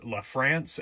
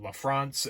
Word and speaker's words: LaFrance: And here I should say that it is indeed pronounced LaFrance and not LaFrance, as I have heard some people say.